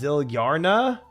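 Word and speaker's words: Zilyana: Um, you know, Runescape Wiki's pronunciation for Zilliana is listed as Zillarna.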